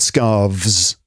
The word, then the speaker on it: scarves: severe it seems um one head scarf two head scarves hear the difference a head scarf so